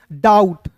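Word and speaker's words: doubt: नोम जैसे दोस्तों यहां पे डी ओ यू बी टी को पढ़ेंगे। डाउट डाउट नहीं पढ़ेंगे यहां पे बी साइलेंट होगा डी का ड हो जाएगा ओ यू टी इसका उच्चारण आउट के रूप में तो हो जाएगा डाउट एच का ह एन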